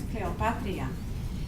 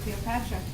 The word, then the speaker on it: Cleopatria: when I was small, my name is Cleopatria. When they would say my name in elementary school, because when they read the roll call, they read the name that's on there, they would say Cleopatra, and everybody laughed.